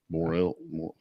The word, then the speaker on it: Morrill: Look, his has an I in it, and we don't pronounce it. Morrill.